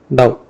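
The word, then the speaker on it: ∂: This we are using a Greek alphabet, that's called dou. Okay, it's pronounced in the dou, d-o-w.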